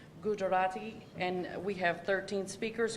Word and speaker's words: Gujarati: There are 2 more Mandarin Chinese speakers with a total of 21, and the language is, this next language is pronounced Gujarati, and we have 13 speakers currently here at GCCS.